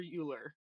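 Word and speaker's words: Euler: uh character of um either ower or uler Oiler how do you say your name Oiler Oiler Oiler um like the mathematician uh ow is saying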